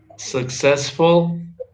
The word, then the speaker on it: successful: successful. Successful. Helpful. Okay, remember in this word, the double C, the first C is pronounced like K, and then the other C is pronounced like S.